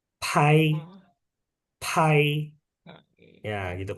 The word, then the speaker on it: pai: Kalau P sama AI, ya bacanya tambahin H, pai, Hmm.